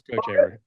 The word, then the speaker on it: Kochevar: I wrote coat, COAT, and then Chaver, but I didn't put like a long A Yeah, gotcha. thing over it. So I messed it up. Rugs. Yeah. Rugs Kochever.